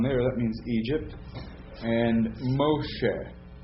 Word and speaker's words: Moshe: there's the dong there that means Egypt and Moshe M Moses you say that again Moshe now